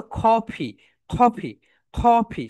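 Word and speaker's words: coffee: Okay my dear soldiers, এখন দেখো তোমার চা কে তোমার কফি, রাইট প্রোনাউন্সিয়েশন কি বলতো? কফি, কফি, কফি, সবাই বলো, খ, খ, ফি, কফি, কফি, কফি, সবাই বলো, খ, খ, ফি, ফি, কফি, কফি, কফি।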